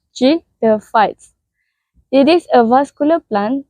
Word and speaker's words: pteridophytes: shall we the word J the fights are pronounced J the fights it is a vascular plant that reproduce using